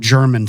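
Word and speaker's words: Jermyn: small the town is called German spelled with a J but there's not really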